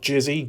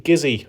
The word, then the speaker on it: Gizzy: Not Jizzy, Gizzy.